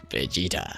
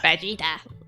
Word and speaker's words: Vegeta: over nine thousand yeah vegeta sorry i just like saying it because they pronounce all the letters vegeta vegeta it's great so i